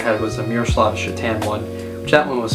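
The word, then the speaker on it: Šatan: all the time and the name Chitan on the back looks like Satan and my teachers would always question me. I would have to say it's Mirlav Chitan is the the way you pronounce that player.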